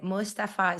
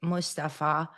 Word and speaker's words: Mustafa: Yeah, we don't exaggerate on the M.